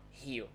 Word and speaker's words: Rio: the carioca accent from here which is not rio by the way now you know the right pronunciation it's not real it's here remember right so in sao